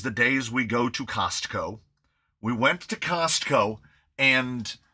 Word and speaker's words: Costco: Uh you have to lean on the T in Costco because everyone accuses accuses Californians of not pronouncing our T's. Santa Monica. Santa Monica. Um so Costco. Uh uh or as my mother-in-law pronounces it, Casco.